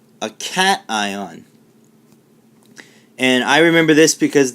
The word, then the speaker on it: cation: positive sign so a positive ion is known as a cation and negative let's go